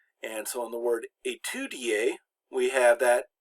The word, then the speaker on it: étudier: Now sometimes words that start with ES, the ES is replaced by the E with the accent aigu, which is pronounced A. And so in the word étudier, we have that E